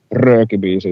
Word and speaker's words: Röökibiisi: Röökibiisi is Röökibiisi. Yeah, trail the R.